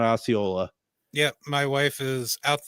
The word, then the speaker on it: Osceola: Now, did Deb not say Osseo, Wisconsin on Wednesday? Yeah, and I could have swore she had that pronounced wrong. Yeah, it's Osceola. Catherine has corrected us kindly, and I appreciate that. Osceola, Wisconsin. Deb did say Osseo, though.